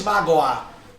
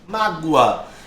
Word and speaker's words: mágoa: Esse O aqui, perceba que ele tem som de U. Percebeu? Ninguém diz magoar. As pessoas dizem mágoa.